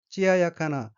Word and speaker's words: 艶やかな: 다음 어휘는 한자가 고울 염자이고 일본어로는 찌아야카나로 읽으며 찌아야카나는 반들반들함, 윤기가 나고 아름다움 이란 뜻의 형용동사 찌아야카에 나가 붙은 것으로 찌아야카나는 윤기 있는 이란 의미입니다.